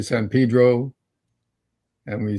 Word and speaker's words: Pedro: We say San Pedro, and we say. Why do they do that? Just to be annoying? It's just an old way of pronouncing Spanish words that got stuck in.